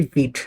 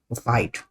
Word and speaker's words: Vite: Don't get me wrong, although the spelling is Vite, the pronunciation would be Vite, not Vite.